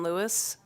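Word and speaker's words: Luis: of the judiciary committee my name is lewis last name is spelled l-u-i-s i am a justice of the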